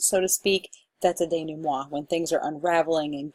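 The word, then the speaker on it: dénouement: get it right but Dana moi it's a French word I've been calling it the denounce at all night I say things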